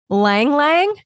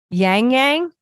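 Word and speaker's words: ylang-ylang: Ylang Ylang? Is that how you pronounce it? It's Ylang. Yang Yang? Ylang Ylang? I'm going to assume the Y is silent. Real life, people, real life. I did not take the time to look this up. Let's say Yang Yang. That sounds right.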